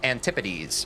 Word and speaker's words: antipodes: Antipodes plural is pronounced antipities.